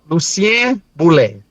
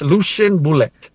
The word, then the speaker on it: Lucien Boulet: Creo lucen. Lucen boule. There you go. Lucen English. Lucian bullet.